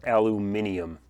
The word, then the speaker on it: aluminium: The metal for this project is going to be 6061 aluminum, or aluminium. That second pronunciation just hurts my brain.